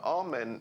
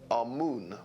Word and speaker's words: Amun: Now, Amen is the pronunciation that the Hebrews give it, and some scholars agree to use that pronunciation. Amun is the pronunciation given to it by one of the old European scholars, Plutarch. In the language of Kemet, the word for hidden is Imen, or Amun is the way that